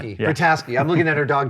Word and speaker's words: Vrataski: Rita I'm glad you're pronouncing Vrataski. it. Yeah. Vrataski.